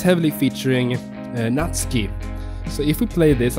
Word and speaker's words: Natsuki: what not scape not Natsuki that I see so many youtubers say in Japanese at least you will pronounce her name like not ski it is pretty dark